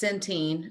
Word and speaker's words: Centene: Somebody might have to help me with this one because I don't know how to pronounce it, but Centene. It's Centene, which in Centene.